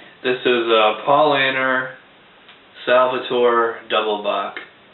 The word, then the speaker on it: Doppelbock: This is a Paulaner Salvator Doppelbock. Although in German it's Doppelbock.